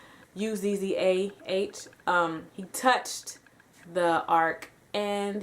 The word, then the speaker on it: Uzzah: And I think the pronunciation of his name is Uzzah, Uzzah.